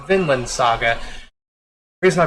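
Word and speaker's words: Vinland: the end of that a promise Neverland I pronounce it as Vineland saga but it's really pronounced Finland saga here's my pronounce it violent sagas well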